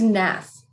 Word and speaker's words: Naef: And not that I'm going to listen to you, but do you prefer your last name to be pronounced Neff or Naef? It's Naef. It is Neff.